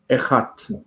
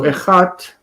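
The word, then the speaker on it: אחת: So instead of achat with long kamatz, it changes that first syllable to segol, echat. So echat. As far as the vowels are concerned, echat is vocalized like echad.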